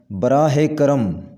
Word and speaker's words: براہ کرم: صحیح تلفظ ہے بالمشافہہ، بالمشافہہ۔ براہ کرم، صحیح تلفظ ہوگا براہ کرم، براہ کرم، براہ کرم۔ غلط تلفظ میں اوسطاً